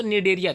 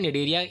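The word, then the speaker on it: Cnidaria: Phylum की बात करें तो निडेरिया, ध्यान रखिए सी साइलेंट होता है, निडेरिया इसकी फाइलम है।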